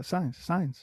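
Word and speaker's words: Sainz: Yeah, signs. Just say it Signs. like you would in Spanish.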